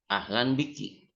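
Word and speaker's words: أهلا بيكي: Tapi kalau yang ahlan wa sahlan itu perempuan, harus dibaca kasroh. Kafnya. Ahlan bik, ahlan biki.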